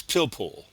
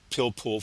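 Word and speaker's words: pilpul: But it's its uh counterpart uh amongst Jews is known as pillpool and that's spelled P I L P U L. Pillpool.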